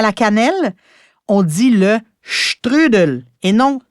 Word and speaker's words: strudel: Et cette délicieuse pâtisserie autrichienne parfumée à la cannelle, on dit le strudel et non strudel. Mais Stéphano, je me demande, comment est-ce qu'on prononcerait poutine en Italie?